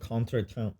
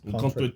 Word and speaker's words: contretemps: Speaking of big words, can you look up what contretemps means? Contretemps. Contretemps. It's spelled CONTRETMP. Some French shit. Contretemps. Sounds like bon ton.